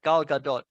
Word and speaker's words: Gal Gadot: is Wonder Woman I had to check the pronunciation of that Gal Gadot there she is uh with her very lovely